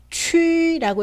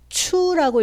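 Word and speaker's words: qu: 읽을 때는 유땡땡 소리 그대로 살려서 어떻게 읽을까요? 그렇죠. 취라고 읽어야겠죠. 추라고 읽으면요, 틀린 발음이 됩니다.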